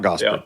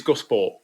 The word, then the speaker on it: Gosport: It's not Gosport, though. Uh it is close. It is Gosport. Gosport. Gosport. Gosport. Gosport. Gosport. Gos Yeah, Gosport.